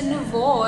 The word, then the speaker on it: nouveau: So nouveau is French for fresh or new. Okay. So the NUVO. So that's the dictionary pronunciation of the French word nouveau.